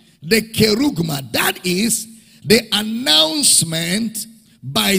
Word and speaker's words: kerugma: Because he is using a keruso, or the kerugma of the written form.